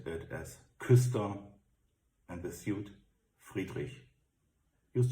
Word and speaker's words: Küster: We pronunciate it as Küster, and the suit Friedrich.